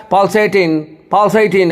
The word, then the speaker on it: pulsating: देखिए P पे जोर है, इसका मतलब P के ऊपर लकीर है, इसका मतलब P पे जोर देना होगा, स्ट्रेस देना होगा, जिसको हिंदी में बोलते हैं बलाघात.